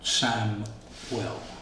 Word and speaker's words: Samuel: Sam well is Spanish it's pronounced you know Sam well like Sam and then well my father was Argentinian